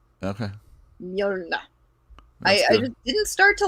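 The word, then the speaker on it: Mjölnir: Mjolnir. Okay. Mjolnir.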